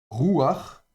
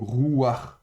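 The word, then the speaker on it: רוּחַ: le r final donc rouar. Donc on prononce bien avec le patafurti rouar et pas roua.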